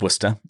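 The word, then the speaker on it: Worchester: Because firstly, it's pronounced Worcester, even in the audiobooks.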